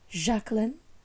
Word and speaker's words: Jacqueline: got the surname and her name is always pronounced jacn like that's how she pronounced it but her family is